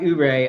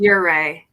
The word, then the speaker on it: Ouray: And like after we talk about Ouray, I do want to get into talking about like you.